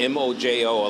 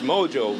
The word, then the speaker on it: mojo: And mojo is spelled M-O-J-O. A lot of people think it's mojo, but, it's not.